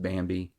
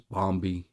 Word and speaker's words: Bambi: Uh, like there's one point where they're talking about Bambi and mispronounced Bambi is Bombi.